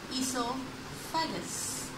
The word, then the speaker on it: oesophagus: structure is known as esophagus here o is silent but it starts from e but o is silent and in the definition